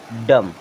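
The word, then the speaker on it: dumb: पढ़ेंगे मम डी यू एम बी डम क्या पढ़ेंगे डम इसे बी को साइलेंट रहेगा अब ये लिखा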